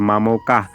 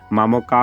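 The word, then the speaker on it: মামকাঃ: মাঝে আছে তো এখানে এই বিসর্গ সমান অর্ধ অ এর মত উচ্চারিত হবে তাহলে মামোকাহ মামোকা হলে বলবো না অর্থাৎ অর্ধ এর উচ্চারণ অর্ধেক পর্যন্ত হবে অর্থাৎ মামোকা তাহলে পরবর্তী যে শব্দটি দেয়া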